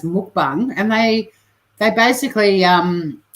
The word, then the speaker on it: mukbang: that are famous for some people call it mukbang but it's actually pronounced m bung and they they basically um get right up